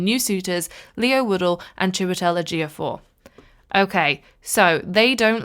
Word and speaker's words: Chiwetel Ejiofor: and, oh no, I'm really bad with names, Twetel Ejiofor?